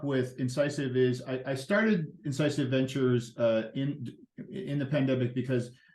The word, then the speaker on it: Incisive: And so let's get over to Incisive. What does the word Incisive mean? Incisive Ventures. What is the thinking behind that? Well, you could pronounce it the way you do. I pronounce it incisive.